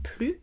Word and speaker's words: plus: un exemple alsace strasbourg le mot plus se prononce plus sans le s quand c'est un mot négatif je ne le vois plus ou quand il est